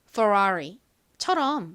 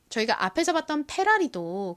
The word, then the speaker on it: Ferrari: 발음하기 때문에 페라리가 아니라 F 발음을 세게 해서 Ferrari처럼 발음합니다 다음으로 볼 차 브랜드